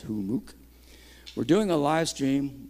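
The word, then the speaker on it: Hummux: a hamuk who mooc h-u-m-m-u-x is how you spell it but it's pronounced who mook we're doing a live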